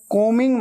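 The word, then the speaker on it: combing: एम कोमिंग my hair कोमिंग को मिंग ऐसे बोलना है ठीक है बी हमेशा साइलेंट होता है स्पेलिंग में आता है लेकिन बोलते वक्त उच्चारण में नहीं आता प्रोनंसिएशन में नहीं आता आई एम कोमिंग माय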